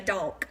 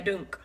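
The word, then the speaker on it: doonk: and they call it, they spell it, I'm going to get it right, D-O-O-N-K. Hey, Tabby, how are you doing this morning, girl? I say a donk. They say a dunk, but I like donk better.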